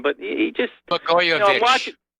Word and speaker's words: Blagojevich: kind of liked Blagojevich, or I can't even pronounce his name, but he just Blagojevich. Blagojevich, yeah, that's it.